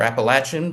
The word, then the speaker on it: Appalachian: The mission of the U Mountain Center is to provide programs that explore Appalachian ecology, or Appalachian, back when I lived in Pittsburgh, we would pronounce it, Appalachian ecology, culture, and the arts while promoting personal and community wellness.